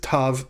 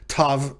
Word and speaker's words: tav: Although many grammars will tell you that it's pronounced like th in thin. Now you can decide whether you want to pronounce tav with a dagesh differently from tav without a dagesh. You can pronounce them t and th respectively, if you so choose,